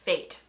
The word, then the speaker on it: fete: So fete is pronounced fate.